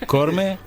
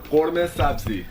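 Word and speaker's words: قورمه سبزی: Do I pronounce it right? Actually, khorme. Korme? Khorme sabzi.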